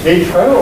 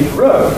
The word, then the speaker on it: Heathrow: Is it Heathrow or is it Heathrow? Well, I say Heathrow, and it comes as a surprise to you. And indeed, the traditional pronunciation has the main stress on the row.